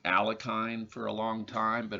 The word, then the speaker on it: Alekhine: I think his name is actually pronounced Alochim. I think you might have to be Russian to know how to pronounce his name properly. We Americans have been saying Alekhine for a long time,